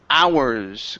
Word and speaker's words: hours: you is the word hours okay so remember that H is silence instead of saying hows